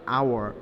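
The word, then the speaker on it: hour: যেমন অ্যান আওয়ার, এইচ ও ইউ, এটা কিন্তু হাওয়ার না, আওয়ার, সেক্ষেত্রে আমরা অ্যান ব্যবহার করতে পারবো।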